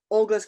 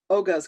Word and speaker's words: Oga's: coasters that came from olga's canteen uh olga oga's canteen there's no l sorry i mispronounced that